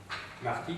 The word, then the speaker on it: Martin: Martin, bon, en français c'est Martin, hein, ça se prononce Martin en allemand.